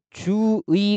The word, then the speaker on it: 주의: 그래서 이럴 때는 한 단어 안에서 의가 첫 음절이 아닐 때는 주의 원칙적인 발음이고 이로 발음해서 주의 이렇게 발음하는 것도 허용을 한다는 겁니다.